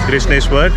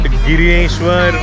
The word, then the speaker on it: Grishneshwar: It is Grishneshwar, not Gireshwar or Grishneshwar.